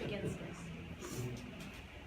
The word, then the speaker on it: Baginskis: I just have your name for It's Julie begins this. Can you spell that?